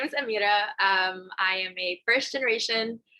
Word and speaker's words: Amira: am honored and privileged to have our guest amari bakir did that did i pronounce that right close amira bakir amira vakir sorry my apologies my apologies